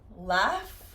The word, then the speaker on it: laugh: So, laugh. The GH pronunciation in English is also an F.